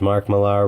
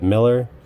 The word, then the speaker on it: Mark Millar: is he pronounces it Miller well if it was pronounced Miller mr. Mark Millar then it would be spelled mi ll er why do I have